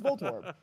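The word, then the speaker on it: Voltorb: No, volto orb. It's voltob. You can say if you say it fast, it sounds like volto orb. It's fine. All you're doing you're putting emphasis on the second syllable even though they're still separate syllables.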